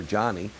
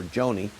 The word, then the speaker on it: Joni: I heard somebody on Fox or CNN call her Johnny, but I heard several people last night call her Joni. I'm going to go with the Joni.